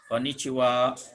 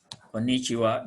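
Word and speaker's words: こんにちは: ini sapaannya Konichiwa Konichiwa jadi disini Double n yang pertama dengan huruf N lalu t absensi ini huruf C dibacanya C lalu wa Ini kata bantu kita ingat kata bantu ini merupakan ini ini khaya ini huruf h a Ya udah kalau sebagai kata bantu ini dibacanya uap jadi untuk kondisi jiwa on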